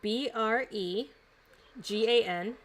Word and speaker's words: Bregan: It is Bregan, and Darth is D''AERTHE.